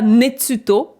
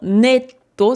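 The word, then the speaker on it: ネット: Alors, je vous concède le fait que ce tsu, on dirait pas qu'il est petit, mais c'est pas netsuto, c'est vraiment netto, sinon ça ne voudrait rien dire.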